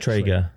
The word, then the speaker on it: Traeger: Traeger.